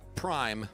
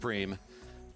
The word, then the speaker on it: prime: of the page for prem donation it's spelt prime but it's pronounced preem prime donation looks like